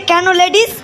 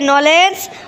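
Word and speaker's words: knowledge: ডি জি ই স্যার বোর্টে ওটা লেখা আছে কেন লেডিস কেন লেডিস বাপরে বাপ কি সাংঘাতিক উচ্চারণ রে বাবা স্যার বোর্ডে ওটা লেখা আছে নলেজ নলেজ মানে জ্ঞান স্যার এই ক্লাসের মধ্যে একমাত্র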